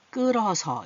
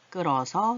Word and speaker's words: 끓어서: 흐 소리 전혀 안 납니다. 바로 문장 연습하겠습니다. 국물이 끓어서 이렇게 발음 나죠? 끓어서 이렇게 안 나요. 끓어서 넘쳐 흘러요. 소리 안 납니다.